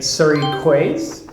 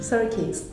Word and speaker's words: Surrey Quays: So if I were to read this, I would say Surrey Quays. Surrey Quays. Quays? Oh, I don't know what Cute, right? Quays. Okay, again, I think it's French. Okay, that is pronounced key.